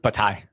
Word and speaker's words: Bataille: You're doing a course on how do I pronounce his name? Yeah, that's right. George Bataille.